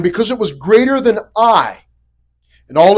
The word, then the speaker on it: Ai: Not going to anger me, but it is pronounced Ai.